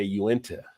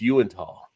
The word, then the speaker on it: Uinta: They would say Uinta. And it's like, no, it's Uintah. UNITA. It's actually a Native American name, but they were saying Uinta beer.